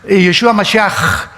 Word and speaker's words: Mashiach: Se escribe Mashiach, Jesús el Mesías en el hebreo, pero se pronuncia la CH, Yeshua Mashiach.